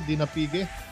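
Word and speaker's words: Dinapigue: Tama po ba yung pronunciation ko, Dinapige?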